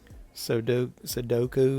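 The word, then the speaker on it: sudoku: Sodoku is how you pronounce that.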